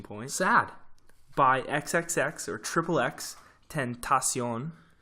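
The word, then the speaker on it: XXXTentacion: sad bye xxx or xxx tent asean which is a little Spanish flair there it's the proper pronunciation I think that might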